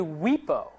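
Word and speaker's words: WIPO: that was called anybody know how this is pronounced it's actually we PO the world intellectual property organization that because they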